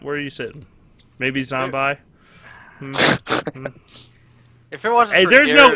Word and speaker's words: zombi: e on that okay there's no E I will pronounce it zombi till the I die what if you pronounce it in Italian that's true but I'm not Italian I'm American all right Amer the words don't end an i in English do they really can can I go now oh no they they do mini mini m n yeah look at this Z by no Mi n is pronounced mini so it's zombie I'm glad we're off